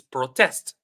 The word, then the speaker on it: protest: So is it protest for number two or is it protest? What do you think? Okay. Great, great. So for the second one, for number two, it's protest. Protest, like our team says, and also like Amin says.